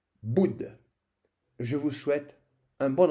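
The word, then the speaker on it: Buddha: Par exemple, on ne dit pas Bouddha, on prononce Boud.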